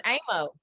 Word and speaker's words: Aymo: It's Aymo.